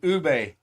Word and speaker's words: ube: It's ube.